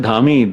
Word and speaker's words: Dhami: Drashti Dhami fans. एक minute, you better pronounce my name right. No, I said Dhami.